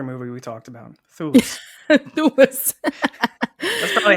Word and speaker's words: Thewlis: And then we have, you're going to have to help me with the pronunciation of this one, David Thewlis? Thewlis? I would go with Thulis.